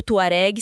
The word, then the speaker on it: Tuareg: falha de transcrição ou de pronúncia da palavra Tuareg. Ou Tuareg se considerarmos a grafia francesa, que era muito comum na época colonial.